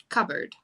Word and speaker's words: cupboard: Because I think, like, if you read, for example, like cupboard, like you don't say the P, but your mind, because